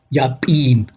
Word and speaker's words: yapin: will be dropped anyway, the e from the final syllable is long, yapin.